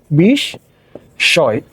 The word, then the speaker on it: বিস্ময়: এখানে তালবস্য চলে আসবে, বিস্ময়, বিস্ময়, ঠিক আছে? কিন্তু এখানে দেখো মফলার উচ্চারণ হয় নাই, তাহলে মফলার উচ্চারণ হয় নাই বলে এখানে কি হবে? এখানে চন্দ্রবিন্দু হয়ে যাবে।